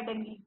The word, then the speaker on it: dengue: हम 90% लोग इसको डेंगू बोलते हैं क्योंकि लास्ट में यू ही है, ठीक है। लेकिन प्रोनाउंसिएशन के हिसाब से हम क्या बोलते हैं उसको, डेंगी। यू साइलेंट है यहाँ पे।